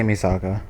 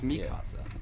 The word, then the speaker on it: Mikasa: Yeah, they say Misaka. That flip. It's it's Mikasa and it's like it's span like it's a it's like basic Spanish mikasa just it's pronounced that